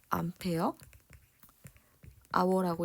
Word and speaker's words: Ah: 그리고 농도는 몰 퍼 미터 세제곱이고 배터리 용량은 AH라고 쓰고 이거 읽을 때는 암페어 아워라고 읽어요.